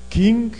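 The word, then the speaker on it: Küng: King, se escreve K-U-N-G.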